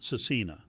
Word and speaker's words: SVRCINA: Kiva Vins, pronounced Cecina, is widely embraced as a Christian artist, with songs like Flowers and Hummingbird becoming radio favourites.